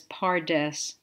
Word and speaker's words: PaRDeS: the principle behind a study technique known as pares if you haven't already studied pares which is spelled p a r d e s I